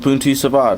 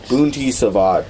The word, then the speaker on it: Bunti Sabat: Yeah, I've heard it mispronounced in wildly vivid ways. Like, there's like, for some reason, and I don't know why this is like really common, but people will add a CH sound to it.